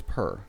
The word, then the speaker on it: per: Yeah, it's not peer, it's per.